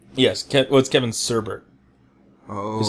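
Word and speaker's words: Kevin Sorbo: played by Kevin sorb Boy by other standards Kevin sorbet yes Kev what Kevin serber oh is how you pronounced it I was you know like we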